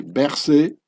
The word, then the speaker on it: Berset: Per-Seth. The French pronunciation would be Berset.